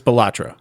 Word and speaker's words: Balatro: references to already is the game of batro or balatro balatro yeah that's how I pronounce it it's balatro okay yeah I'm going